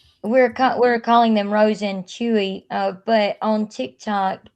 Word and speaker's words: Chuy: We're calling them Rose and Chewy, but on TikTok it's Queen Rose and King Chewy over on TikTok.